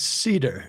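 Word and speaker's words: Seder: How do you pronounce it? How do you say it? It is. Uh, it's Cedar.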